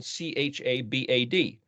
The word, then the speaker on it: Chabad: the sites that comes up is uh spelled c-h-a-b-a-d cha bad well it's actually pronounced Chabad and that's a let's just say